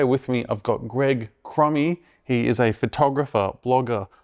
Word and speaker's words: Cromie: Usually people put a B in there and make it Cromby.